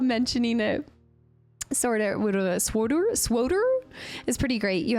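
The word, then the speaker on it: SWTOR: campaign in codor also the dev started pronouncing swod to rhyme with kodor as a marketing gimmick during development so swor cotor there was a long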